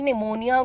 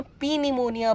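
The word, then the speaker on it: pneumonia: मुझे याद है मेरा पूरा बचपन जब मैं छोटी थी तो मैं निमोनिया को ना पी निमोनिया बोलती थी। अब ठीक है, वो निमोनिया है, समझ आ रहा है,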